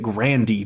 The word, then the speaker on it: Grande: mother's maiden name apparently her Grandpa would pronounce it Grandy though yes sir that's